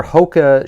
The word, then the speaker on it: Hoka: So I wear Hoka shoes, and that's the only reason I wear. That's how you say it.